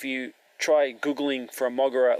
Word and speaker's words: Moguera: So let me get out while I can what Moguera stands for, which is Mobile Operations Godzilla Expert Robot Aerotype, which doesn't really sound like a very good acronym.